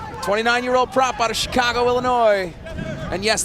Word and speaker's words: Illinois: prop out of Chicago Illinois and yes the S is silent at the end of Illinois number seven going for